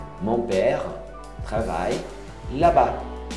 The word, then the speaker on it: là-bas: Mon père travaille là-bas. Là-bas, não pronuncia o S.